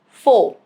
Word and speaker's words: faux: It is silent at the end of a word derived from French.